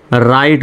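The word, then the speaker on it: write: ডবলিউ তারপরে কিন্তু আর লেটারটা আছে। সুতরাং ডবলিউ এর উচ্চারণ হবে না। তাহলে আর আইটি কি হয়? রাইট উচ্চারণ হবে। রাইট। তাহলে এখানে কেন রাইট উচ্চারণ হচ্ছে? রিট উচ্চারণ কেন হচ্ছে না?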